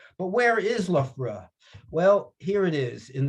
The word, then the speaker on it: Loughborough: unusual language this english that we speak the ou g h o u g h two different sounds just in that one name and someone told me there's more than a dozen ways to pronounce ough in the english language but where is loughborough